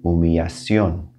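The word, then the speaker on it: humillación: i just mentioned that a double l is going to have a y sound so humiliation is going to turn into mumiacion it's like a y sound in there here's another spelling change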